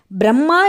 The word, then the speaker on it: பிரம்மா: பிரம்மா என்பதே சரியான உச்சரிப்பாகும். பிர என்றால் பெரிய என்று பொருள். பெரிய அம்மா என்பதே பிரம்மாவுக்கான பொருள். சகல உயிர்களுக்குமான படைப்பு தாயாக பெரிய தாயாக இருப்பவரே பிரம்மா.